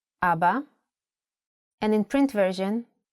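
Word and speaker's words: אבא: Also, the word Abba has kamats under two of its letters. Abba. And in print version, Abba.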